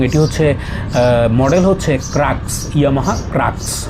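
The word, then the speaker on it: Crux: হচ্ছে মডেল হচ্ছে হচ্ছে ক্রাক্স Yamaha ক্রাক্স সি আর ইউ এক্স আমি ক্রাক্স বলি কেউ কেউ দেখে আবার ক্রুক্সও বলে তো এটা জানিনা এটা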